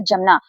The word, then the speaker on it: जमना: जब बिना नुक्ते के इससे बनेंगे शब्द तो हम उसे जा ही पढ़ेंगे। जैसे ये एक शब्द लिखा है तो इसे हम पढ़ेंगे जमना।